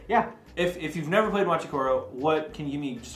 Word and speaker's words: Machi Koro: But Machi Koro? Machi Koro. That's how you pronounce it.